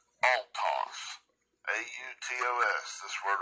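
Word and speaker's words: αὐτός: It's autos, A-U-T-O-S, this word right here. Strong's G846. Autos. Autos. Autos, right? Spelled like autos, A-U-T-O-S, okay?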